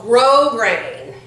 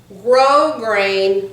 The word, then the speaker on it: grosgrain: this is this is it's got a weird name it's called grosgrain grosgrain ribbon but it's spelled grosgrain gr o s gr AI n grosgrain do you know what